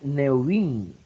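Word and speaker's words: נביאים: Se pronuncia Neuvin, ¿verdad?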